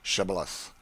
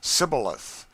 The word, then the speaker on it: shibboleth: let none pass who could not say shibboleth the ephraimites being of a different tribe could not frame to pronounce the word right but called it sybileth which proved them enemies